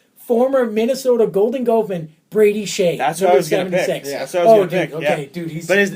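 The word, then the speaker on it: Skjei: the previous round former Minnesota Golden Gman Brady Shay okay dude but how do you spell it's like SK k j y j e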